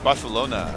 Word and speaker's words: Barcelona: Barcelona. You have to like say the c like a th.